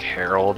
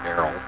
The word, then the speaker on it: Errol: I keep thinking his name is like Harold and they're just pronouncing it weird, but it's really Errol.